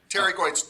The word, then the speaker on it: pterygoids: Pterygoids. How do you say it? Pterygoids. This P is Oh, silent. Terry. You Yeah. don't say the P. Oh, okay. I know it looks like pterygoid, but it's not.